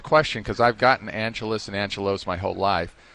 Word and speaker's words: Angelos: one thing for me your name is Angelus your last name is spelled though with an O so a lot of people that when you first came in said Angelos what is the deal